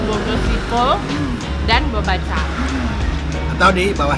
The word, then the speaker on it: Bogoshipeo: Tulisannya ya Boko Sipeo, tapi bacanya Boko Sipo dan Bobaca.